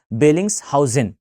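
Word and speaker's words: Bellingshausen: कई बार इसके प्रोनाउंसिएशन में थोड़ी सी मिस्टेक होती है लोगों से, आप याद रखिएगा बेलिंग्स हाउसेन, ये इसका परफेक्ट एग्जांपल है, परफेक्ट नेम है बेसिकली।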